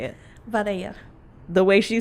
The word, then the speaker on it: Vidalia: Vidalia.